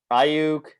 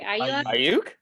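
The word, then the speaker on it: Aiyuk: Ayuk, Pittman, Mims.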